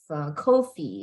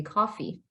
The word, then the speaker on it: coffee: also pronunciation Corrections all instead of Kofi it's supposed to be coffee so the correct or